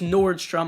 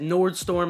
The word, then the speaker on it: Nordstrom: if Nordstrom and yeah I know it's Nordstrom I said Nord storm in the previous video I know it's great